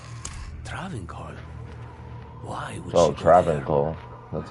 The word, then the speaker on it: Travincal: Why would Oh, she Travincal.